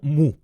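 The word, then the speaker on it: μ: A esa media, a ese valor esperado o esperanza matemática, la vamos a denotar como mu, que también se puede pronunciar como mi.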